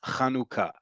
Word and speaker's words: Hanukkah: it's written here in row three and it's pronounced kanuka um I understand that for a lot of